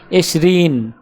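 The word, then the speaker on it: عشرون: আরবি ক্রমিক সংখ্যা 20 দেখতে এরকম, উচ্চারণ হবে এশরিন।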